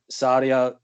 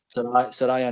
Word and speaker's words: Saraya: Michael Elgin was removed from Impact TV, and Paige's mum, Saria, is it Saria Knight? Is that how you pronounce her name? Yeah. Saraya Knight.